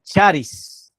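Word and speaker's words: χάρις: Y ahí está la palabra en griego, pero también como podemos pronunciar charis una vez más, ¿qué es la gracia?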